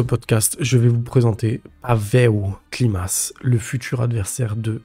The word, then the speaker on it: Pawel: Contrairement à ce qui a été dit dans un célèbre podcast, non, Pavel, prononcé Pavel Klimas, n'est pas un pur striker qui échange debout jusqu'à ce que l'un des deux s'écroule.